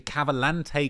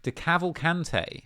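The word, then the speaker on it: DeCavalcante: okay the decathlon way de cavalcante I've been saying it wrong all these years the de cavalcante crime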